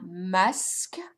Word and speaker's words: masque: Un masque. So remember that you don't pronounce the final E's at the end of the word. So you're only going to hear mas and then some k, masque.